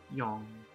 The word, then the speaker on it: yong: Yong. I-O-N-G is pronounced as yong. Yong. Yong. It sounds just like the combination of yi and ong, but make sure your ending mouth shape is longer and rounder.